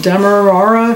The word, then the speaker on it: Demerara: one has demera Demerara de how do you pronounce it Demerara sugar salt spices paprika garlic chilies and onion